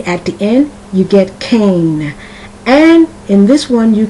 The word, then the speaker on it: Cain: name is spelt C-A-I-N, and that I tells you with the A that the A is pronounced like a long A. Cane.